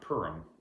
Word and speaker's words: Purim: So Haman, who, if you know anything about Jewish traditions or holidays, if you're familiar with the holiday of Purim or Purim, I can never say it right.